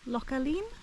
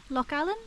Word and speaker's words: Loch Aline: the shores of um localeen Loch Allen I think it's pronounced more like lock Allen and it's very picturesque